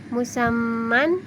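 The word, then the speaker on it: مسمى: Contohnya seperti musamman, dibaca musamma.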